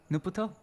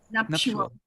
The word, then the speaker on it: nuptial: Nuputo? Nuptial.